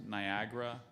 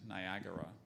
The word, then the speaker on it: Niagara: all of them there's there's a slight variant there's Niagara and Niagara one more time both